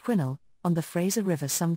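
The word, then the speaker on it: Quesnel: man about 10 mil from the town of quinel pronounced quinnel on the Fraser River some 200 miles north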